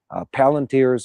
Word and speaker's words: Palantir: They're using a software suite that runs on Palantir's, I believe that's how it's pronounced, AI suite.